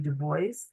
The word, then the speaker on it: Du Bois: And I think about like not just somebody like a W.B. Du Bois or Dubois, depending on how you say it, who was collecting data